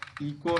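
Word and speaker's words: echo: जैसे राइम आ जा रहा है, राइदम है, इको है, अगास्ट है, गोल है, गैस्टली है, कोरश है, इसमें एच का उच्चारण नहीं हो रहा है, साइलेंट माना गया है।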